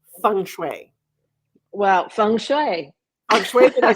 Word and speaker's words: Feng Shui: Well, Feng Shui.